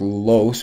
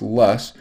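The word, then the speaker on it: loess: wind is called lus it looks like it's pronounced loss but it's pronounced less this is wind blown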